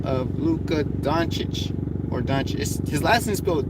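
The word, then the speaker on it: Dončić: on he goes by the name of Luca Don Cheech or Duchess his last misspelled do ncic but it's is pronounced on Shh which I'm not gonna argue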